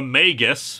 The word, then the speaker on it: Magus: the title The Magus I am using this pronunciation under protest after the last time you all said it goes like that I still think Magis sounds better after all we don't pronounce magic magick now do we this is Jeff